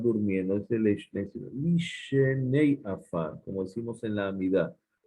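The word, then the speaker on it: לִישֵׁנֵי עָפָר: No se dice Leshenei para dos, dice Lishenei. No para dos, perdón. Que están Lishenei, los que están durmiendo. Es el Leshenei, sino Lishenei Afar, como decimos en la Amidad.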